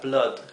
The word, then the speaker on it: blood: La excepción que me viene a la cabeza ahora es la palabra blood. Blood se escribe con doble O y significa sangre, pero no se pronuncia U.